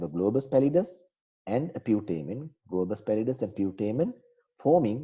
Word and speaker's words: putamen: This is called putamen. People pronounce it in different ways. Some call it putamen, some call it putamen, and you can call it putamen.